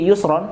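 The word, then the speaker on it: يسرا: artinya kesulitan Yusron kemudahan Kenapa ketika menyebut usron itu pakai alif lam Jadi alusri tapi ketika Yusron enggak pakai alif lam sehingga bacanya langsung Yusro ternyata begini di dalam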